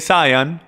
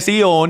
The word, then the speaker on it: Sión: Ahora, el Monte Sión, y mucha gente lo llaman el Monte Zion, pero es pronunciado el Monte Sión, y el Monte Sión,